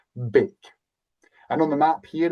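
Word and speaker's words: beag: Bake. Simply meaning small. That G is more like a K. Bake.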